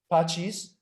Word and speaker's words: Pacis: but who the the ra is it radio basis the hypothesis the latin word for peace oh i did not know that radio peace that makes a lot of sense yeah all right so radio passes pachis yeah good there you go raido pachis i